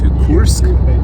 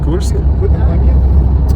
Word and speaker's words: Kursk: So we are driving to Korsk. Did I say it right? Kursk.